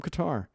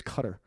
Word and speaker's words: Qatar: These two guys were from Qatar, they told me, or I believe it's cutter is how it's pronounced.